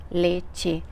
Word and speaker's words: leche: palavra ducha, leche, e para muita gente é difícil, porque como se escreve leite, quem lê seria leche, não é? Porque o som no Brasil seria de CH, e é como se fosse o som do X.